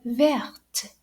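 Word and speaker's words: verte: difference la fore e vert okay so make sure that you really pronounce that t at the end now if your subject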